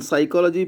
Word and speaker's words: psychology: p is pronounced but in psychology p is silent it is not pronounced so psychology is the